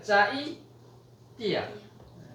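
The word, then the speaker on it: चैत्य: 로마나이즘으로는 한 거지만 C는 쯔 이런 발음이 나죠. 쯔. 그러니까 짜이띠야. 짜이띠야. 아로 읽어도 되고 야로 읽어도 됩니다.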